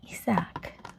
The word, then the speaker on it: Isaac: We have isac in Spanish we say isac which just take a little longer in the a probably or some just say is and they just remove one a isac in English is Isaac Isaac.